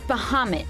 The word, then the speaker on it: Bahamut: Uh Bahamoot, sorry, it's pronounced Bahamoot. No, actually I think Cloud's right. It's Bahamut. Yeah.